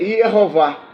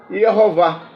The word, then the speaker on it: Yehová: E com esses sinais vocálicos o nome ficaria Yehová, Yehová, né? Porque o Yod é o Y.